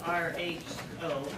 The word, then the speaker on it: rho: If you want to use the corresponding Greek letter that goes for the population, it's a Greek rho. You spell it R-H-O, rho.